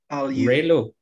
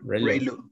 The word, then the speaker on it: ReLU: How do you pronounce the ReLU? ReLU. Yeah, ReLU.